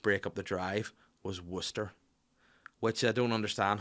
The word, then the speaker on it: Worcester: up the drive was worcester which i don't understand how it's called worcester when it's spelled warcester again people's discuss this